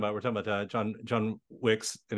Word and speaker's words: John Wicks: we're talking about John John Wicks and it's I have to remember how to say his name with the plural part otherwise you get the movie thing but uh yeah but